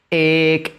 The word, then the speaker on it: ek: Y la palabra que lo ejemplifica es estrella y se dice de la siguiente forma: ek, ek, ek, ek, estrella.